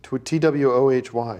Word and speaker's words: Twohy: T-W-O-H-Y. What the hell? How do you pronounce that?